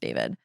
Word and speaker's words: D4vd: I've heard so many people call him D4vd, not realizing that it's pronounced David.